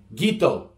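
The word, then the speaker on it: qito: q i-- t oh the letter Q is a hard G sound gah gah gah this case it's qi t oh so it's G Guiteau that's the Fijian word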